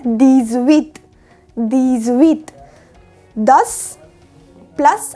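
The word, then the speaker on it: dix: 10 यानी 10 को बोला जाता है दीज।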